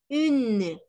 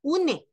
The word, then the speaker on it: un: No es une, sino un, y la on, que es la un, ¿ok?